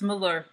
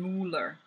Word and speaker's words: Mueller: so in a way it's Miller like Miller closer to Miller than Mueller then how we say